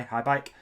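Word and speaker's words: Haibike: That's how you say it, isn't it? HAI, High Bike.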